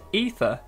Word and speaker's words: Aether: of ether in and obviously that says the way to pronounce it is ether but then you've got